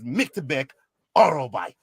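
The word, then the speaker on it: Myktybek Orolbai: Is Miktibek Orolbai.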